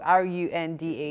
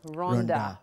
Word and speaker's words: Runda: the way it's spelled, R-U-N-D-A, yeah, your first thought is Runda. Yeah. But then you told me it's actually pronounced Runda.